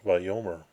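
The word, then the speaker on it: וַיֹּאמֶר: So the first word in that sentence was va the conjunction vav on the imperfect form of the verb amar um altogether pronounced vom and uh this is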